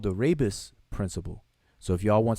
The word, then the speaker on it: rebus: The rebus. Some people pronounce it rebus, but it's the rebus principle, rebus principle.